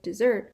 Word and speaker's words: dessert: In the English word desert, the place where a cactus grow is the first syllable stress." So, desert. And then English word dessert, the second syllable is stressed.